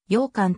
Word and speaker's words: 永観: ことに由来するなお永観堂は漢音読みで ae 感動と読むが栄冠立志の栄冠は号技読みで羊羹と読む禅林寺の本尊